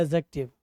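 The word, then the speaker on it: adjective: जब आपका इस ए और जे के बीच में डी आता है, तब हम इस डी का प्रोनाउंसिएशन PRONUNCIATION, तब इसका प्रोनाउंसिएशन हम क्या करते हैं, नहीं करते हैं।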